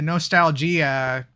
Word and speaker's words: NostalGea: I do feel like the other pack that we did, the NostalGea pack, pronounced that way. I pronounced it that way because the G is capital.